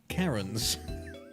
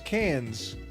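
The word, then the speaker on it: Cairns: I heard a YouTuber pronounce cans as Karens.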